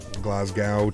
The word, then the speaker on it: Glasgow: floa twin otter of Glasgow it's pronounced glasgo glasgo glasgo all right cool let's